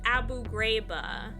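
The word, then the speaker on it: Abu Ghraib: Also, it's pronounced Abu Grabba.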